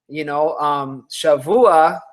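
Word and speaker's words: שָׁבוּעַ: Shavua has the Veit sound.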